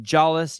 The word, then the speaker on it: Jallis: And lane 5, we have Sebastian Jallis. You do pronounce the J.